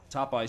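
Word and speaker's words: Tophi: Topeye spells his name T-O-P-H-I, and it rhymes with Popeye.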